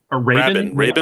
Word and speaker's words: Rabin: The film score was former Yes guitarist Trevor Rabin. Rabin? I don't know how you say it. It's Rabin. Quote the Raven.